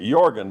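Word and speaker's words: Jørgen: relative that came in his first name was jorgan j o r g n but the Norwegians pronounce it jorgan but anyway Ronnie Sam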